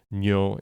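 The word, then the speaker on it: 尿: Ryo is amount and those probably sound the same to listeners because my pronunciation is terrible, but uh, nyo n y o with a long vowel.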